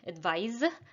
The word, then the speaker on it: advise: pronounce them is that the verb is pronounced with the z advise and the noun is